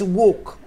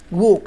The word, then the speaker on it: walk: وي كانت ووك، شفت انا قلت ووك ووك ال w a و ووك، زي كلمه ووك زي كلمه وول، تمام كده.